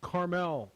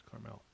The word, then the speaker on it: Carmel: won last night um it's pronounced carmel like clint eastwood was mayor next to pebble beach it's carmel okay but that's the town it's not the gooey sugary candy um closers and sports